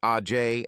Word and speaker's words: Age: sage had two sisters age pronounced AJ and l pronounced L